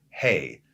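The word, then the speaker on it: ה: He says, the universe was created through the letter Hey, pronounced He. That's really how you pronounce it. It's not hay, like hay is for horses.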